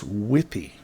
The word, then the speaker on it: withy: And we want spruce withy. Withy is how this is pronounced, I've been told.